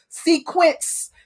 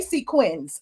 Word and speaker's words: sequins: drugs when her boob fell out of her sequence sequence dress as marlo said um and speaking